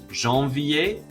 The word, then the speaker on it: janvier: Janvier, février, and juillet. All of those are pronounced like ier at the end and have a silent R and a silent T.